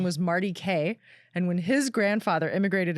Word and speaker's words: Kaye: My last name is Kaye, Kaye. Just K, like a K.